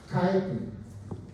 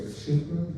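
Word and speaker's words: chitin: is basically made of Titan some people say chicken but I prefer the K pronunciation there and they have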